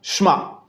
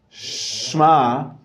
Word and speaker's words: Shema: gonna rip share my it's not shma it's opposed to Shema that that e adds in the little movement because it's a shyvana okay that was on